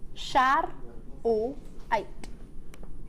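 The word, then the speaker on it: charoite: Shar-o-ite. That's how I would break it down.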